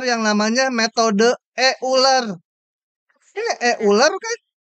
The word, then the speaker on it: Euler: Ini Euler kan?